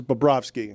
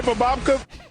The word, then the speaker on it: Bobrovsky: Still not as bad as Charles Barkley pronounces Bobrovsky. Sergei Bobrovka. Sergei Bobrovka.